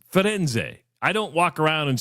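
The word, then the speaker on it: Firenze: It's not it's not it's Roma in Florence. It's Fenz.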